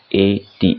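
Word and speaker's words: ate: जैसे हिंदी में इंग्लिश में बोलते हैं ना एट। एट मतलब एट वैसे ही इसको प्रोनाउंस किया जाता है एट।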